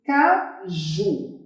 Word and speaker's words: caju: Qual é a sílaba mais forte? Caju, caju, caju. Tá vendo? Ó? A sílaba mais forte é o ju.